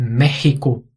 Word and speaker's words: México: para uma exceção importante é o país México EA nacionalidade mexicano são pronunciados com som de dois erres em português o México mexicano México ou é